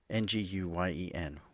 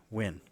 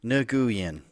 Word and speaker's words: Nguyen: At one point, someone pointed out that he was mispronouncing the common Vietnamese surname Nguyen, Nguyen, Nguyen. He was saying it something like Nguyen.